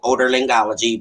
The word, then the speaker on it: otolaryngology: But I actually work in the Department of Ear, Nose, and Throat, otolaryngology, but ear, nose, and throat, because everybody has a hard time pronouncing it, which is ear, nose, and throat.